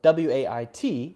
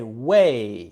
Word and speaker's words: wait: the whole sentence now at the end of the word we often have a stop sound where we just say huh for example w AIT we would often not say as weight but we'll say it as wait wait now be careful not to say way you can't just let it go on forever you have to go uh-huh and stop it wait wait wait for me not way for me